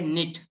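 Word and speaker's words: knit: में क्या होता है, K जो है साइलेंट होता है, N से आप रीड करते हैं, ठीक है। यहाँ पर है निट, इसे पढ़ेंगे निट, ठीक है।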